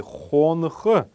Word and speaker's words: хонх: Вообще здесь вот между буквой Н и буквой Х раньше было один неясный гласный, который, кстати, при произношении слова хонок проявляется. Поэтому хонх мы здесь будем ставить два неясных гласных. Первый неясный гласный будет стоять после буквы Н. Мы должны его произносить как фоновый звук, такой фоновый шум.